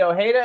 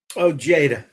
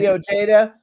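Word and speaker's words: Ojeda: Um they were founded by John Blaze and former Twisted Sister guitarist Eddie O'Hara. Is that how you pronounce his last name? Ojada. Oja. Okay. Eddie Ojada.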